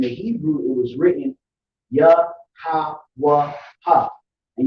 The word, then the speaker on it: Yahawah: And when you look into the word Lord there in all caps, in the Hebrew it was written YAHAWAH, and you pronounce it Yahawah.